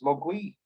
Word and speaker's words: mogwai: devil demon or gremlin mandarin pronunciation pronunciation is mugwi so was was gremlin